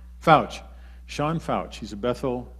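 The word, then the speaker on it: Feucht: weeks this is an announcement for everybody sean foge how do you say his name fouch sean fouch he's a bethel uh worship leader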